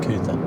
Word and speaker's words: Coot-tha: The crazy thing is it's not Mount Coot-tha in the way you might think. It's Mount Coot-tha. Yeah. And that's in all of the fucking, like, that's how they spell it.